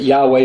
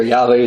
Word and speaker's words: Yahweh: the word is YHVH how we would put in an English term is pronounce different ways but Yahweh or Yahweh the most common ways that would be pronounced it means I am